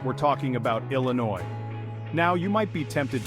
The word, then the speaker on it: Illinois: fries with that remember it's Illinois no s required okay adventurers